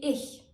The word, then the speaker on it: ich: Drittens, I wie ich. I can be pronounced long, I as in Igel, or short, I as in ich.